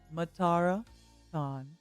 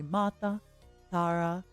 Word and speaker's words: Matara Kan: think you'd understand so the closest English equivalent would be matara tan you can call me matara Miss Claus Matan mat